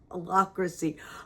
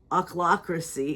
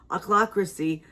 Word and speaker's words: ochlocracy: So that one, I'm going to try it one more time. Ochlocracy, it's OCH, so it's kind of funny. Ochlocracy that has concentrated power